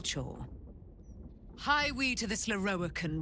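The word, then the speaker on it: Lorroakan: Meet Aelin and Loroakkan.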